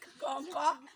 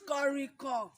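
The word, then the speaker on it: kànrìnkàn: Kọ̀ǹkọ̀ is kọ̀rìnkọ̀. Kọ̀rìnkọ̀. Everybody say that. Kọ̀rìnkọ̀. Kọ̀rìnkọ̀. Kọ̀rìnkọ̀. Although shortening it, we can call it kọ̀ǹkọ̀. Kọ̀ǹkọ̀, but the normal pronunciation is kọ̀rìnkọ̀.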